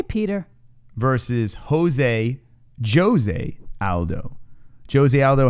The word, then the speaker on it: Petr: not I need why do you keep saying pewter your name listen I fixed my pronunciation I said it alongside so every time I say his name I say Peter Peter Peter and I'm like I'm saying it